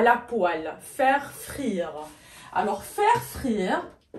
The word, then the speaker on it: poêle: ولاحظوا معي كتكتب هكذا ولكن كتنطق poêle, poêle, d'accord, à la poêle.